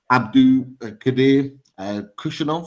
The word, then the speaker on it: Abdukodir Khusanov: Hope I'm pronouncing his name right. Is it Abdukodir Khusanov?